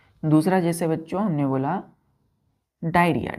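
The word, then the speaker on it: diarrhoea: आप देख रहे हैं डायरिया यहां पर ओ साइलेंट हो गया क्या हो गया बच्चों ये ओ यहां पर साइलेंट होता है तो इसका प्रोनंसिएशन हम कैसे करते हैं उच्चारण डायरिया डायरिया आर एच ई ए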